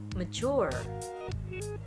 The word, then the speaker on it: mature: pada suku kata pertama tetapi yang ini diucapkan Mercure Mercure Mercure dengan tekanan pada suku kata kedua jadi jangan sampai terkecoh